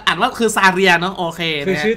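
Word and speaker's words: Zarya: โอเค เก็ด และ เก็ ะ อ่าน ว่า คือ ซาเรีย เนาะ โอเค นะ คือ ชื่อ แต่ ละ ตัว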